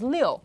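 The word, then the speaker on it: 六: you know you use the number six which is pronounced in Chinese as Leo which sounds similar to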